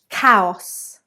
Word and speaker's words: chaos: Chaos. Chaos. It is not chaos, but it is chaos. K. So an A sound like train.